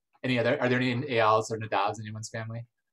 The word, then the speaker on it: Eyal: Everyone says. It's really not, so, oh well.